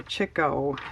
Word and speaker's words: Chico: And it wasn't labeled, but I'm pretty sure that's Harpo, Groucho, and Chico. Or Chico, as technically it should be pronounced, but nobody does.